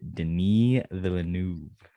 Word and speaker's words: Denis Villeneuve: From director Denis Villeneuve. You like that, Kody? Good pronunciation.